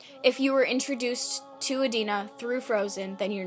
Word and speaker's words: Idina: Don't say Idina, please.